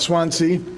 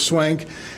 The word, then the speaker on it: Swank: Swank, it's pronounced, not Swansea, it's pronounced Swank, and we all take